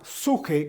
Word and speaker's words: psique: Hablemos un poco acerca de la suje, que es la pronunciación correcta para la palabra psique.